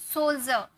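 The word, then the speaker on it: soldier: सोल्जर, यहाँ पर डी के बाद आई आर ई नजर आ रहा, तो इसे हम जॉ में प्रोनाउंस किए, सोल्जर।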